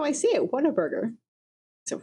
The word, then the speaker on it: Whataburger: chain of Whataburger, because they say it like Whataburger. Whataburger? When I was little, I used to say water. Yeah. Yeah. And you're a native. Yeah. Yeah. But people who've moved here, they're like, well, I'm just reading it phonetically, which is a big mistake in Texas. Whataburger. And it's not Whataburger, it's Whataburger.